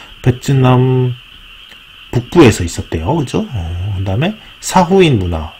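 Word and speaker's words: Sa Huỳnh: 그다음에 사후인 문화, 사황을 사후인이라고 읽는 거군요.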